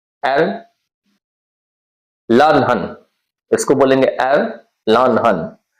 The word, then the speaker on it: Erlangen: अगर देखने में आपको लगता है तो ये एयरलांजन लग रहा है ना, लेकिन एयरलानहन है, एयरलानहन, ठीक है।